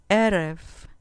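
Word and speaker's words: ערב: Erev, erev, con acento en la penúltima sílaba.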